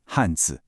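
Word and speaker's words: 汉: This brings us to our next character, Han, pronounced Han. It's that sharp fourth tone again.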